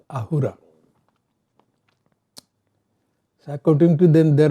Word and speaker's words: Ahura: So in Zoroastrianism, the word Asura is pronounced as Ahura.